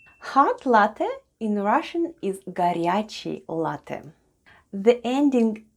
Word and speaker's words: горячий: The first sound is G, then goes O, which is unstressed and pronounced as A. Then we have R, Ya, then goes Ch, E, and E short at the end. And altogether it's горячий.